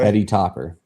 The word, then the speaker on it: Heady Topper: Spell it Heady, Hedy, Heady Topper. Heady, like head. Okay. Heady Topper.